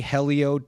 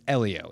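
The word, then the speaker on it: Hélio: Do you say Helio to make him angry? Cuz that's not how you say his name. You know that, right? It's Elio. If you pronounce the H, you're doing it incorrectly.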